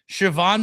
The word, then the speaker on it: Siobhan: Yeah, that is how you pronounce my name. Uh, it's Irish. Practicing. It's Irish. Um, oh, a good Irish girl. Love it. Yeah. So, the B and the H make the V sound and it really hangs people up.